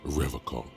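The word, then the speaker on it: Revachol: He pronounces Revocol with a hard K, unlike other people. I like to pronounce it the hard way.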